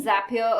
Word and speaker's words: Zapier: see is a zapier the name zapier according to the founders is because it rhymes with happier so that's how we pronounce it and essentially it's a